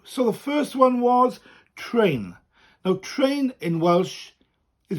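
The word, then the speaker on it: trên: train that's better train so it's t r e which is a little upside down v on top which we call a tour and that just elongates the letter and then and then train okay now we have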